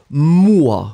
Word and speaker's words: moi: Remember that when you will combine O and E together, the sound will be wah, wah, wah, wah. Okay, so first M, M, and then after that, wah, moi, remember?